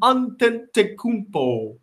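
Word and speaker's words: Antetokounmpo: last name they probably were sitting with you pronounced on ten Takuto say it with me Kevin unten takubo he's just like nine and I'm not gonna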